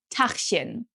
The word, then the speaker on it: Tachchen: And in Berlin, you'll hear people say Guten Tag or Tachchen. This one is quite difficult to pronounce because we have the CH twice, but with different pronunciation.